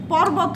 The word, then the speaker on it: পর্বত: পর্বত হবে। এবার বোঝা গেল? যদি কোনো বানানের কোনো বর্ণের উপরে রেফ থাকে তাহলে সেই বর্ণের দ্বিত্ব উচ্চারণ হবে না বা দুইবার উচ্চারিত হবে না।